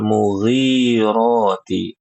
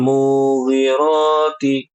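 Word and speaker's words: المغيرات: Di ayat yang ketiga itu fal mugiroti yang panjang ginya munya pendek. Ini banyak kaum muslimin yang membaca fal mugirati kebalik munya panjang. Kenapa? Karena ingat di ayat 2 sebelumnya ya.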